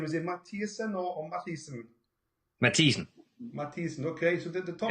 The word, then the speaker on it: Mathiesen: First of all, Keld, how do you pronounce his second name? Is it Mathiesen or Mathiesen? Mathiesen.